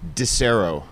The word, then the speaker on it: Disero: it was probably correct de cero yeah I know the right way mizuta cerro de cero